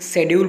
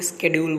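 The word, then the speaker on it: schedule: जैसे कि यूके के लोग शेड्यूल बोलते हैं और वही यूएसए के लोग शेड्यूल को स्केड्यूल बोलते हैं।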